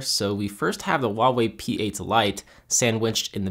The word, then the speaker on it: Huawei: changing here very soon their name looks like Hawaii but I can assure you it's pronounced Huawei just throwing that out